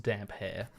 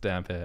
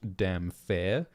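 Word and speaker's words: Damphair: in the live chat it is pronounced damp hair yeah I don't want to Gaslight everybody so so Aaron damper that's how it's pronounced damper and it's spelled d-a-m-p-h-a-i-r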